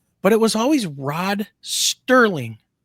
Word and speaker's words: Serling: And I'm like, wasn't it Rod Serling? Look at the fact that Michiganders pronounce Kroger's, everything and Myers. Everything has an S at the end. I'm telling you, people mistake Serling and Sterling everywhere.